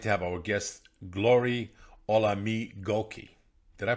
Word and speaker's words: Olamigoke: Today we're delighted to have our guest Glory Olamigoke. Did I pronounce it right? Olamigoke.